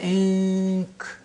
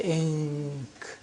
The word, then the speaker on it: ink: I-N, you say in. The N is pronounced from behind the teeth ridge, say in. But you say ink. Do you pronounce the N from behind the teeth? From the calf, from the point of articulation of K.